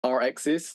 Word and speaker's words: rXis: But I think for me, I'll say it as rXis, like the word axis and an R in front.